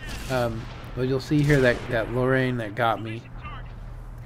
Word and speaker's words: Lorraine: But you'll see here that Lorraine that got me. It says Lore, but it's actually called Lorraine, I think. This is the way it's pronounced.